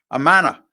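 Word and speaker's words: Imanaga: It'll be Shohei Amana.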